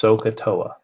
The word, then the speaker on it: SOHCAHTOA: Okay, it's pronounced SOHCAHTOA. Okay, so like if you kick the wall, you got to go SOHCAHTOA.